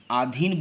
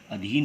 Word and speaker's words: अधीन: अगर हम देसी उदाहरणस्वरूप अगर हम आधीन होते हैं तो यह अशुद्ध उच्चारण है जबकि इसका शुद्ध उच्चारण क्या होगा अधीन होगा उसी तरह दी वाली